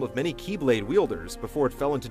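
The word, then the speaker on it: χ-blade: one must possess the key blade which spelled out looks like x blade the letter x represents the greek symbol for chi which in the kingdom heart series is pronounced as key the symbol would serve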